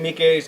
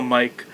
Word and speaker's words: Miike: from 13 assassin think thank you for pronouncing his name right because people just call Mike but he's actually doing